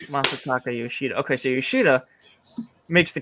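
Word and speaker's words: Masataka Yoshida: shooting a monster taco no it's Masa Taco Yoshida okay so Yoshida makes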